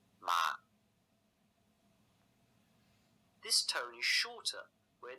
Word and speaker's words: 骂: Using the same syllable ma, but adding the fourth tone, gives it the meaning to scold or to curse.